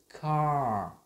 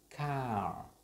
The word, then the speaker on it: car: Có lưu ý là môi của mình sẽ đóng lại một chút, và mình cái môi mình sẽ chụm lại, giống như phát âm cái chữ R, và lưỡi thì sẽ được đẩy lại ở phía sau. Mình đọc cái âm car, car.